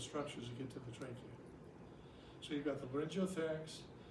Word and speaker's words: trachea: The triacha? Or I know how to spell it. I'm just forgetting how to Go ahead and say spell it. it. T-R-A-C. Trachea? Trachea.